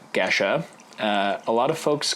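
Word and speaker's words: Gesha: so like I said geshe is correctly pronounced Geshe a lot of folks call it geisha but that is because it is incorrectly associated with the Japanese term geisha not true so we're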